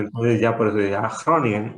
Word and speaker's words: Groningen: Por ejemplo, Groningen, pues digo, sé que se pronuncia así porque siempre me corregían, pero se escribe G-R-O, Groningen, ¿no?